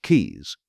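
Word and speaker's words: Caius: Additionally, we may note the following location which includes Kais which is pronounced keys which like the location in Salsbury is next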